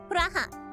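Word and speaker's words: プラハ: Praha. That's how you say it in Japanese, in case you guys wanted to know.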